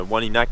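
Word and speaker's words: Wôlinak: Puis aussi justement Wanlinak que je parlais tantôt sur les pancartes puis sur les cartes c'est écrit Wolinak avec comme un O accent circonflexe, mais c'est juste c'est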